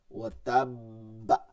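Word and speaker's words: وَتَبَّ: এবার আপনি কলকলা ডাবল করবেন, ডাবল, কলকলা প্লাস কলকলা। তাহলে কি হয়? ওয়াতাব্বা, কি হবে?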